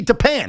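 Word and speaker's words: Tappan: If it's the Tapenzee Bridge, why would it also be Tapan? That doesn't even make any sense. You called it Tapan. That's just how it's been pronounced for the last hundred years.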